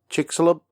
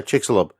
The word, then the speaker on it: Chicxulub: the famous chick chick chicks club is it Chicxulub yeah Chicxulub Chris conic Google Maps it's Chicxulub